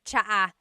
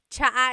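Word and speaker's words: tsa: Polyglot said it's like the word cha. Cha in Tagalog is T like the tea that you drink. And it's spelled T S A. Cha. Cha. That's such a Tagalog spelling. I love it. There's the ts sound and then the double vowel uh pronunciation.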